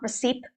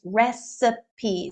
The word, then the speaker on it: recipe: okay so be careful it's not receipt I hear that very very often it's recipe so there are three very distinct syllables it's a noun it's